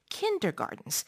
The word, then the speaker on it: kindergarten: idea and concept of kindergartens which is spelled in English with a t not a d despite its pronunciation yeah this pronunciation sounds